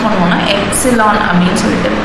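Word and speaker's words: epsilon: ஸோ இதை நம்ம எப்படி ப்ரொனவுன்ஸ் பண்ணுவோம்னா எப்சிலான் அப்படின்னு சொல்லிட்டு ப்ரொனவுன்ஸ் பண்ணுவோம்.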